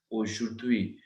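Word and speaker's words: aujourd'hui: हमने टुडे करा था, ध्यान से देखो, एशु means ओ ओ, okay, J ओ यू are means जूर जूर, ओ जुर। ठीक है, यहाँ पे क्या है, एच इज साइलेंट, तो द्वी द्वी द्वी, बिकॉज यू आई के साउंड क्या है, वी वी, तो वी साउंड जब डी के साथ आई, सो इट बिकम्स द्वी, ओ शुद्वी ओ शुद्वी ओ शुद्वी ओ शुद्वी,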